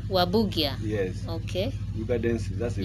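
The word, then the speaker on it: Warburgia: Wa like war. Uh-huh. Wa. Bu. Gia. Waburgia.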